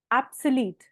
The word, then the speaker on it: obsolete: Next word on the screen, ऑब्सलीट, एब्सलीट। ठीक है, इसमें ओ को ओ नहीं प्रोनाउंस करना, थोड़ा अ की तरह प्रोनाउंस करना है, एब्सोल्यूट।